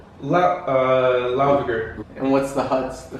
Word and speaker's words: Laugavegur: Brendan, how do you pronounce it? Landmannalaugar. Laugavegur.